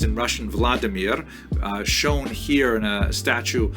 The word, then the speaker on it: Vladimir: is the conversion of one of its leaders pronounced in Russian Vladimir shown here in a statue overlooking the nipro river that runs through the middle of cave volodemir made a decision to convert to Christianity this